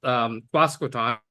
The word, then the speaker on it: Quasqueton: In fact, I just asked him how to pronounce Quasqueton, which is how I've been pronouncing it for the last 40 years.